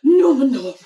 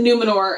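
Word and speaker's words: Númenor: Numenor. More. They're swallowing the R but overpronouncing it at the same time.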